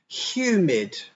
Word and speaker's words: humid: Humid. Try to say that. And remember, after the H and before the U, there's a Y sound.